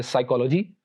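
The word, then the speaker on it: psychology: पी के बारे में रूल्स ये हैं कि P is not pronounced at the beginning of words using the combination PS, PT और PN। यानी अगर किसी वर्ड के शुरू में PS, PT या PN आ जाए तो वहां पर P will be silent, P को प्रोनाउंस नहीं किया जाएगा।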